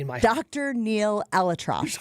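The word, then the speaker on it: ElAttrache: Alatrosh is how you say his last name.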